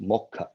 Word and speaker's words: moksha: made this cake and moksha in bengali is pronounced mokka so i made a